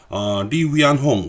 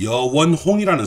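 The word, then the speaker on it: 黎元洪: 바로 리위안홍, 우리나라 발음으로는 여원홍이라는 사람이었습니다. 리위안홍은 원래부터 군인이었고 청일전쟁에도 참전했던 사람입니다.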